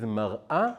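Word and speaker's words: מַרְאָה: And that word is mar'a versus mar'eh.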